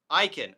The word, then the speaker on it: Akin: So obviously this is what this pushback is coming from Catholic, Orthodox Christians who are, okay, Jimmy Akin's last name is pronounced Aiken.